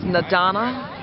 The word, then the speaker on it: N'Dana: yourself but your name and my name is nadana my name is spelled in apostrophe d a n a the